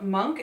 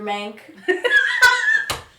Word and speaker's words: Monk: Before auditioning, Trailer had never seen an episode of Monk. How do we let this be famous? This was evident by the way she was pronouncing the characters' names. This is Mr. Mank.